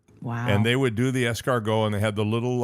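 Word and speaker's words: escargot: And they're not pronounced fu. No, they're pronounced they're pronounced escargo.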